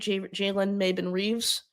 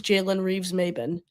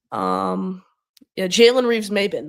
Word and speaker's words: Jalen Reeves-Maybin: I think that's how you say it, Jalen Maybin Reeves. I think it's Jalen Reeves-Maybin. Jalen Reeves-Maybin, the linebacker from Detroit, who they just moved on from.